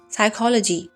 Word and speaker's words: psychology: Psychology, the P is silent.